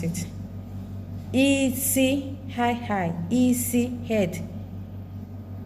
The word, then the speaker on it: isi: Okay, it can be pronounced in 4 places, like can pronounce as head, blindness, to cook, smell. Okay, to get hand, high. To get blandness, low, low. To get to cook, high and mid, mid. To get smell, high and low.